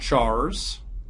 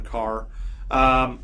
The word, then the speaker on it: char: The words char, int, and long, by the way, some people pronounce that one car, depend on the platform you're on.